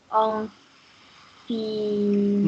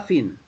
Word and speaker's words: enfin: En fin, En, en, en, en, en fin, non, pas fine.